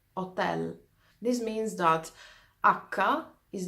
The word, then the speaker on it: hotel: thing is that H letter akka letter H is silent in fact you heard me saying instead of hotel I said 10 this means that akka is the only letter